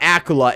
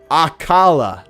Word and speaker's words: Akala: A No, it's not Akula. It's Akala. Akala.